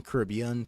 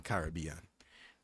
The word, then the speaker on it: Caribbean: Some people use the pronunciation Caribbean, some people use the pronunciation Caribbean. I grew up using the pronunciation Caribbean, unfortunately, apparently.